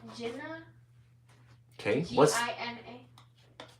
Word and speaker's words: Gina: Okay, what's G-I-N-A? G-I-N-A, Gina. Oh, Gina, okay. Like Regina. Spelled the same way anyway.